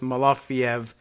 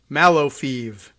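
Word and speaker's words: Malofeyev: guess that's the reason they go with malafiev m-a-l-o-f-e-y-e-v as opposed to the other spelling m-a-l-o-f is it entices us to say malofiev as opposed to pronouncing both of the e's right so in order to get us to give it that extra syllable we put the y in there i think that's what's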